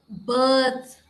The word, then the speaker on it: birth: you pronounce it now in both the words it's birth like in girl curd remember this sound purple and curd and birth okay it's birth many times most of the Telugu speakers get the pronunciation of these words wrong so that's how it